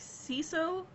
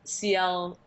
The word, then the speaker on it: Ciel: Do you like Seal? I might be saying the name wrong because I've yet to see that anime. Yeah, it's Ciel.